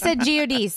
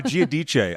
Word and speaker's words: Giudice: Oh, yeah, Giudice is even better. Giudice, I think, is like the proper pronunciation.